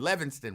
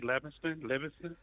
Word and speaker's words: Livingston: I mean, some people say Livingston. People who can't read say Livingston, but people who can read look at the letters and pronounce them the way that they're arranged.